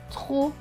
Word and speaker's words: trop: Avec le O, cela donne trop. Le P à la fin est écrit en bleu, donc il ne se prononce pas. Donc ce mot va se lire trop.